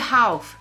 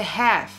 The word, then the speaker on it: half: grupos temos aqui ó have time have time ó aqui a gente não pronuncia esse L Tá então não vai ser Half vai ser Half time que é aí o